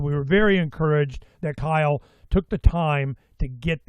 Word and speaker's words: Cyle: or you could put my name, which is Kyle. Kyle is spelled with a C.